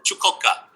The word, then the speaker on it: Chukotka: Chukotka. So no T. You don't pronounce the T very much.